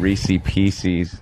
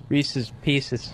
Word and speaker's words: Reese's Pieces: You said Reese Pieces. It was Reese's Pieces.